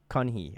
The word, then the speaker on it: Keonhee: Is it Keonhee? Is that how you pronounce it? Keonhee.